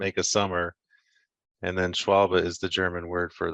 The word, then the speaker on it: Schwalbe: pronouncing it but this the german the e at the end is a kind of a sound so it's not schwalbe or schwalbe it's just schwalbe yeah all right yeah